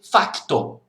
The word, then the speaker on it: facto: Fato, em Portugal tem o C, facto.